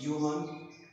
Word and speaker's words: Johan: नाम था आपके पास योहान, ये लिखे जाते हैं जोहान, लेकिन आपके पास ये प्रोनाउंस होगा योहान, योहान गॉटलीब गाह, इन्होंने जो थे ये डिस्कवर किया था।